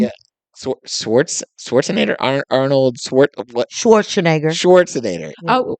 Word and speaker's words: Schwarzenegger: saying he was like gonna be like Arnold Schwarzenegger level action star. When this movie came out, that was like people were saying You want to take another run up at that last name? Yeah. Schwarzenegger, Arnold Schwarzenegger.